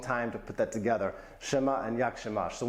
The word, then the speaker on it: siema: Siema.